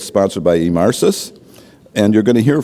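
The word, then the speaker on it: Emarsys: Vice President of Sales for the Americas at Emarsis. And if you take away nothing else today, you now know how to pronounce our name. So, hey, we're Emarsis.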